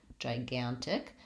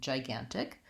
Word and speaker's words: gigantic: myself but the letter G in this particular word gigantic says a sound I'm going to write that as a J because usually often the beginnings of words when we have the jet sound is spelled with a J so that might help you to make the difference so I have one jaw and one guy in gigantic so I'm gonna say